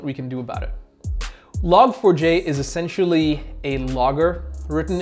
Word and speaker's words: Log4j: talk about that so log4j or logforge depending on how you say it is something that